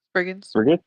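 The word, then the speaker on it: Spriggans: Sprigins. Sprigin. Yeah, that's spelled um S P R I G G A N S.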